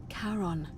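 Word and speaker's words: Charon: c h a r o n as in karon the Fairman of the Dead karon who in exchange for the right coin helps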